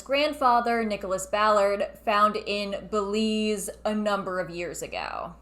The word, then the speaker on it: Belize: lost pyramids of belize he's putting the wrong amphasis on the wrong syllable it's belize not bellies i've been to belize